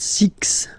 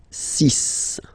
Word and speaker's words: six: sank s s then be careful here because even if it's ending with this x well you'll have to press pronounce it like s okay so you get the sis pronunciation s okay so it's not six it's sis all right then here remember